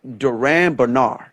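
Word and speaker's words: Durand Bernarr: you could tell um i actually said his name wrong it's actually duran bernard in his late 20s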